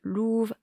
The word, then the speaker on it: Lova: » Et en fait, ça se prononce « louve ».